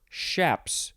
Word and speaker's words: chaps: Next is chaps or shaps. You could pronounce the beginning with a CH or an SH.